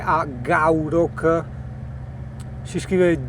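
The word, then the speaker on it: Gourock: Io ho preso il traghetto, il Wester Ferris che è a gaurock, si scrive g o U r o c k, ok?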